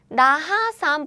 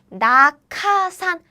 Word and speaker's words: 낙하산: It's not 나하산, but the answer is 낙하산. 낙하산. It's because, do you see this 기역 here? 기역, The aspirated version of 그 is 크. So the pronunciation becomes 낙하산. 낙하산.